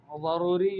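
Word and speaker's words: ضروري: کہیں عندی عمل ضروری، ضروری بالضاد لا بالزاء، ضاد سے ہے، زا سے نہیں ہے۔ اچھا، ایک طالبہ دوسری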